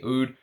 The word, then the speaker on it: oud: AUD and he and he spells oud AUD a o UD D because he says when he was in the Middle East uh that's how people would um that's how people would pronunciate it I had some people in theid e say it's not true that's not how we say UD but that's his story anyway